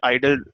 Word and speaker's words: IDLE: आपके पास आता है वो आइडल होता है, IDLE उसका स्पेलिंग है.